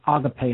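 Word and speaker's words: ἀγάπη: Gamma alpha PI ADA agape and I wrote it there with an accent an acute accent over the e so you know it is pronounced auto-pay and not a gate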